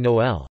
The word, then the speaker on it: Noël: French also uses the diaresis on the second of two adjacent vowels to indicate that both are pronounced separately, as in Noël, Christmas, and hair, to hate.